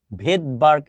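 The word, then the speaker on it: Svedberg: তাহলে এস মানে হলো ভেদবার্গ একক ভেদবার্গ একক ভেদবার্গ বানানোর প্রথমে থাকে হলো এস এই এস টা উচ্চারণ হয় না ঠিক আছে তাহলে এই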